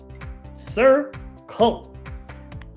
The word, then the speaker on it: circle: starts with a c oh so it's the soft c c sir coal and then you trace